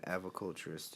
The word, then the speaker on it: aviculturist: An aviculturist, yes.